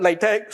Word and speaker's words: LaTeX: is called LaTeX, and we pronounce it LaTeX so that we don't get a typesetting language mixed up with a subset of the King community.